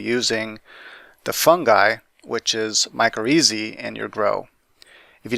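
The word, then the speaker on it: mycorrhizae: like it's not said micro easy well it is that's the Latin pronunciation and that's adopted in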